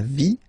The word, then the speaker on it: vie: So basically you don't pronounce the E, okay? So it will be only the sound I, okay? For instance, la vie, life, okay?